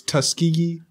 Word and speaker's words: Tuskegee: no the older correct or the normal its Tuskegee University us key Tuskegee tusky yes oh my